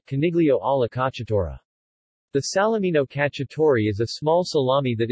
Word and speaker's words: Cacciatore: cacciatore pronounced category means hunter in Italian in cuisine ala